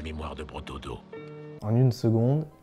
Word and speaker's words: seconde: En une seconde. Seconde, it's pronounced like a G sound.